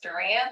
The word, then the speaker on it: Duran: Yes, hey everyone, so if anybody needs to know, the last name is pronounced Duran, like Duran Duran.